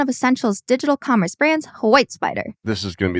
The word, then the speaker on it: WhyteSpyder: He'll tell us the founding story, and we'll also learn why the company is called WhyteSpyder. And that is white and spider spelled with a Y instead of an I.